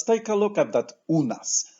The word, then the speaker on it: u nas: a look at that Oona's we see the letter u always in Polish it will be pronounced ooh and then the letter A always pronounced as ah so we have illness